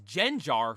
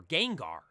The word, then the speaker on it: Gengar: but speaking of pronunciations Wolfie says jenar for Gengar when I heard him